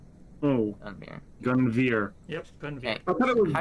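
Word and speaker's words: Gunviere: Gunbeer. And how would you spell that? G Veer, U like N V I E R E. Oh, Gunveer.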